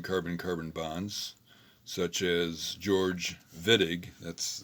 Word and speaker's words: Wittig: a german chemist um the germans pronounced the the w uh as a v so this is the wittig reaction um george vittig in 1954 came up